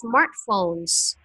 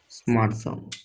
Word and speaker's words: smartphones: Okay, Jack, always pronounce the S. Smartphones. Smartphones.